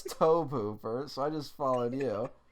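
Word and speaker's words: Tobe Hooper: lot of comments saying we pronounced toby hoover's name wrong yes we did and i was insistent to you that it was toby hoover and you're like no it's toe pooper so i just followed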